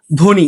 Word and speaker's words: ধ্বনি: ঠিক আছে, শব্দের শুরুতে ব ফলা যুক্ত থাকলে ব ফলার উচ্চারণ হয় না। যেমন ধ্বনি, আগেরটার মতোই ধ্বনি, ধয়ের সাথে বয়ে যুক্ত আছে, কিন্তু এখানে ব ফলার উচ্চারণ হবে না।